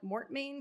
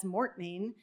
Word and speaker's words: mortmain: the undemocratic impacts of, I'm going to call it mortmain, because I assume that's what Americans say, which is the dead